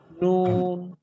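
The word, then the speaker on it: نون: Touch করার সাথে সাথে আমরা উচ্চারণ করব কি নুন নুন নুন নুন নুন।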